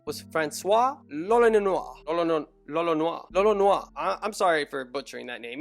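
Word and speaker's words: l'Olonnais: So because of the L and the R situation, Lolonois ends up sounding like Roronoa, and that is the only reason I can say Lolonois.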